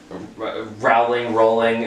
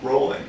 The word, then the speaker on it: Rowling: Rolling. Rowling. Okay, how do you pronounce it? Rolling. Rowling? I've always said Rowling. Well, you've always been wrong.